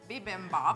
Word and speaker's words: bibimbap: how to make, which is, I can never pronounce it right. The Kinpira part or the Bibimbop part? The Bibimbop part. Bibimbop.